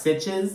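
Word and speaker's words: Sitges: arriv to uh s it's called I it's pronounced sitches this place in Spain to spread M's ashes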